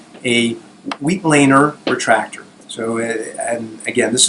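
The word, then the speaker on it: Weitlaner: That's what I called it for a very long time, until I read a book that this was named after a German surgeon, Wheatlander, and it's pronounced Wheatlander.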